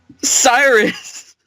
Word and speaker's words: Cyrus: I would consider, well, it rhymes with virus. Cyrus.